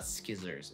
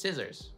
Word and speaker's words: scissors: I don't really know, but in English, we don't pronounce the C in scissors. It's not skizzers, it's just scissors.